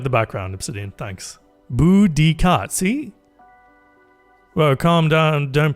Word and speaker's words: Boudica: Don't say Boudissa. Boudica.